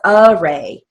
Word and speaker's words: array: That is spoken as array. And usually the prefix A words have the sound, as opposed to article A words have the long A sound.